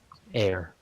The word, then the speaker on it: heir: Air. The H is silent.